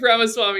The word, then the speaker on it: Ramaswamy: annoyed by the type of candidate that Vivek Ramaswamy is, and he loves... It's Vivek, by the way. It rhymes with cake.